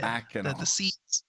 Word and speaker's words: Mackinac: Mackinac. The sea is silent.